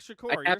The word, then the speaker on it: Shakur: saying it right Tupac Shakur you're saying it correct okay I just haven't